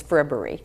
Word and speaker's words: Frippery: Only because I was talking about frippery right before fribbery, but yes, it's fribbery.